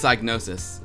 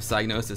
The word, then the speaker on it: Psygnosis: Aziboshi II says, why do you native English speaker make the P of Psygnosis silent?